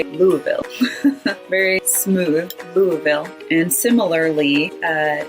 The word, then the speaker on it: Louisville: Louisville or Louisville, but they take out a lot of those letters and just say Louisville.